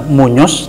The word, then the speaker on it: Muñoz: Ada Muñoz namanya, Muñoz. Jadi Muñoz itu dialek yang mereka ya kan. Sebenarnya tulisannya Muñoz. Muñoz dibacanya Dibaca Muñoz.